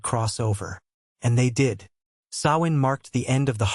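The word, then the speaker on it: Samhain: and most terrifying festival, Sawin, pronounced so.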